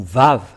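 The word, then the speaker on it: ו: vave c'est bien ça donc c'est pas du tout waouh mais on le prononce bien vav et le vave est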